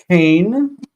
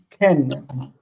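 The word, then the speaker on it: כן: This word is not Cain. It is Ken.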